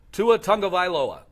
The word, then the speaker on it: Tua Tagovailoa: You want to pronounce that name for us? Tua Tagovailoa.